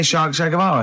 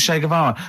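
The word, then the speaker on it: Che Guevara: Shay is like shake and his his surname is like guitar, right?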